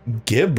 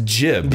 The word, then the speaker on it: gib: I didn't know my whole life I've been pronouncing gib wrong. It's jib.